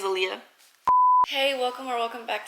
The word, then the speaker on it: Alia: so in my head I've been saying Alia and then watch it is Aaliyah hey welcome or welcome